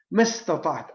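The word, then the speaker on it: مَا اسْتَطَعْتُ: sunnatillah wa sunnati rasulih, mastata'at, as long as I am capable and able. He got it right, because that was the correct way to say it.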